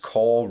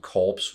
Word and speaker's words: Corps: This is season 1, episode 21, titled Against Core Rules. Or is it Corpse Rules? Corp? You don't pronounce the P, do you?